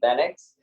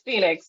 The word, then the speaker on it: Phenix: and Coach Loretta we're here with Coach FedEx she did I pronounce that right first and foremost it's Phoenix but it's totally cool yeah so we're here